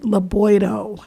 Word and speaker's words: Laboido: Like, I feel like all of our signs should be the size of the one for Laboido, because, and yes, that is how you pronounce it, Laboido. It would be wonderful if